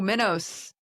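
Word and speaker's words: Minos: king of Cree with Did you say Mentos? Like the fresh maker? No, Minnos.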